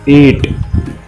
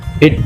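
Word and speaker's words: eat: उसके बाद है ईट। ध्यान रखिएगा इसके प्रोनाउंसिएशन, इट नहीं ईट होगा, बड़ी ई और ट।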